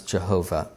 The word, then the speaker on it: Jehovah: And so it's J-H-V-H, which we pronounce Jehovah.